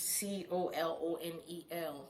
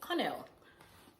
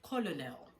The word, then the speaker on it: colonel: And number two is colonel, colonel. If you want to pronounce it the way it is being spelled, you would most likely land and colonel.